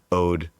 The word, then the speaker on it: Ode: get into it, but Ode is the way that it's pronounced and it does mean the word Ode O D.